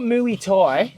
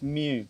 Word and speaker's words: Muay: It's not Muay Thai. It's Mew. Muay. Oh, Muay. Muay. Okay, Muay.